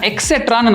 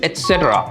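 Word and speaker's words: et cetera: எப்படி சொல்லணும் அப்படின்னு பார்த்தீங்கன்னா எக்ஸெட்ரான்னு நிறைய பேர் சொல்லுவாங்க. அது எக்ஸெட்ரா கிடையாது, இட் இஸ் எட்ஸெட்ரா. எட்ஸெட்ரா. Okay, நீங்கள் நல்லா நோட் பண்ணீங்கன்னா டிஃபரன்ஸ் தெரியும். நான் அந்த எக்ஸ் சவுண்டே யூஸ் பண்ணியிருக்க மாட்டேன், டீயை தான் ஸ்ட்ரெஸ் பண்ணியிருப்பேன். எட்ஸெட்ரா.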